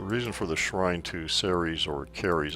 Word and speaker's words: Ceres: The reason for the shrine to Ceres or Caries, the Romans would have said Caries because their C was a hard C, pronounced like a K in all cases.